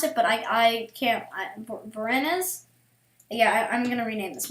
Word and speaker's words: Voronezh: I'm sorry for all the people from Voronezh. That's how you pronounce it, but I can't. Voronezh?